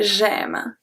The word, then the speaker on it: j'aime: Because this one, aimer, when it's the infinitive of the verb, it's pronounced aimer. But when you conjugate it, for example, if you want to say I like, you can say j'aime, aime. In this case, it's a sound E.